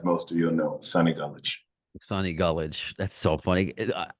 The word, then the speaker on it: Gullage: Oh, it's pronounced Gullage, old camp story for a second.